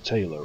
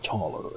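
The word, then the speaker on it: Thaler: than meets the eye I've been calling him Taylor all the time even that taller is more more proper pronunciation and game if I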